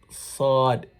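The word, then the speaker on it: ص: your teeth this side sword sword if you're saying sword if your mouth is going round you're practicing wrongly it shouldn't be it's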